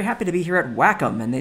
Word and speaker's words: Wacom: And did you know it's pronounced Wacom? I did not know that until I got to visit their fine offices out there in Portland, Oregon.